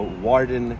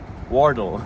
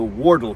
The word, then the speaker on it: Wardle: Behind me is Britain's shortest canal, the Warden Canal. Wardle. Behind me is Britain's shortest canal. The name is the Wardle Canal. I said it wrong last time.